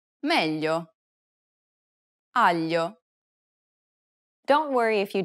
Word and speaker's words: meglio: It's a peculiar sound because it sounds somewhat like an English L, but not exactly.